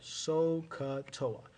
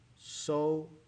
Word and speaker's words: SOHCAHTOA: Okay, so, S-O-H, ka, with a strong H sound at the end, and toa, SOHCAHTOA.